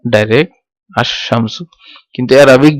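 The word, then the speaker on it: الشمسُ: আর যখন শামসের সাথে, শামসুনের সাথে আল যুক্ত করব তখন এটার উচ্চারণ কি হবে, আল শামসু হবে না, এটা হচ্ছে আশ শামসু। লাম এটা উচ্চারণ হবে না, আশ শামসু।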